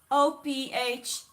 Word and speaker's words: Ophiuchus: It's spelled OPHIUCHUS, Ophiuchus.